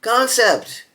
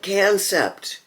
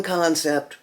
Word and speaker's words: Kansept: Frag titanium scales concept. There's an example of another word. A lot of people call it concept. The people that run concept call it concept. So, I'm calling it concept.